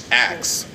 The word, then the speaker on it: ask: an English class and say axe instead of ask and get, you know, blood on their paper or something to that nature. But that's actually how you used to pronounce it you know, in the earlier English. And so it's a process called metathesis that happened, and now